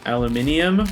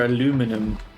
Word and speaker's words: aluminium: you pronounce that word is it aluminium or aluminum even spelled different all right so i